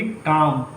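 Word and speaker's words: calm: सी ए एल एम काम का मतलब होता है संक्षिप्त। काल में नहीं पढ़ेंगे। यहां पे एल साइलेंट होता है।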